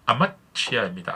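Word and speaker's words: אמציה: 주일에 있어서 요아스의 왕 아마시아 왕의 이야기를 하려고 합니다이 아마시아 좀 더 정확한 발음은 히브리어로 아마치 아입니다 아마치 여러분 그 본문에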